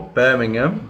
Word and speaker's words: Birmingham: Okay, confusingly, this is another team from Birmingham, or Birmingham, as British people pronounce it, and this is West Bromwich Albion.